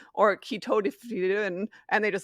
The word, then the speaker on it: ketotifen: There's an antihistamine drug called ketotifen, and every patient says ketotifen or I can't even pronounce it wrong, or ketotifen, and they just, like, mumble it.